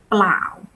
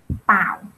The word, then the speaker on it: เปล่า: We don't pronounce a clear L or R in the cluster, especially in spoken language. We don't say like blau or krap clearly. In spoken language, we just say kap pao.